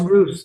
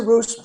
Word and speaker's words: Ruse: It's It's Ruse, though. It's a Roose.